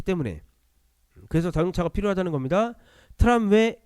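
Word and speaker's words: tramway: 트람웨 에그지스트 트람웨라고 발음해요.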